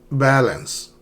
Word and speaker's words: balance: Balance. Balance. Not balance. Balance.